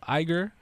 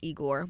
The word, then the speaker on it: Igor: No, So IGOR went I number believe 1. it's pronounced Igor.